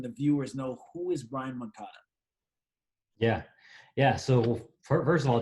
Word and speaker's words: Brian Moncada: But before that, Brian Moncada, I should say, is how you actually really pronounce it.